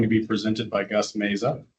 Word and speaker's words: Meza: It's going to be presented by Gus Meza, who I've recently heard you can also pronounce that Mazah.